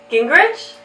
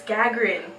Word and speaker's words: Gagarin: Gingrich? No, Sammy, it's Gagarin.